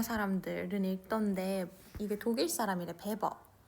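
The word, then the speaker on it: Weber: 베버 이거는 독일어에서는 얘를 W를 V 발음을 한다네. 그래서 ver 뭐 이렇게 발음을 한대요.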